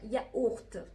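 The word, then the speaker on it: yaourt: والاكزامبل بتاعنا ياورت، ياورت، ياورت يعني زبادي، ياورت، ياورت. خدتوا بالكم الاو يو نطقتها ايه؟ او، يبقى الاو هي او والاو هي بتنطق او. اوكي، فهذه ياورت.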